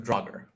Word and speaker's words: Draugr: I believe it's pronounced Draugr. Draugr.